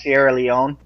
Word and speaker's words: Sierra Leone: Yeah, I just wanted to go to the fact checkers really quick, and it's actually pronounced Sierra Leone.